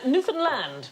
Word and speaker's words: Newfoundland: shoot you now uh no it isn't the correct pronunciation Newland hey hey enough violence on this show Newan land is the correct pronunciation